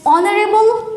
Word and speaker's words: honorable: Here we have to write N, and same as honorable man. Honorable man. This is started with H, which is consonant, but the pronunciation started with O, which is vowel, and it sounds also vowel.